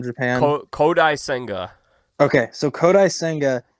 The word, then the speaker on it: Kodai Senga: his name wrong do you know how to pronounce the guy they signed from Japan kodai senga okay so kodai senga it's career high Innings pitched is 144.